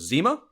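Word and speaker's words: Zema: There is Zima. Phonetically just like the Crystal Pepsi of 90s malt beverages, but spelled with an E instead of an I.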